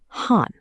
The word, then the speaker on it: haan: In Hindi, we say HAAN.